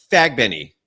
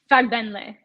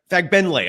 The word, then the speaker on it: Fagbenle: Temi Fagbenny. Did I pronounce that right? Fagbenle. Fagbenle. I'm sorry, that's an Yeah. L. Okay, so Temi Fagbenle.